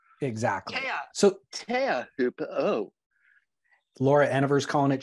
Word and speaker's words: Teahupo'o: Turpel is calling it chopu. And now Joe Turpel is making a bit more of an effort. We are here at Teahupo'o. Exactly. So Teahupo'o. Laura Eniver's calling it chopu.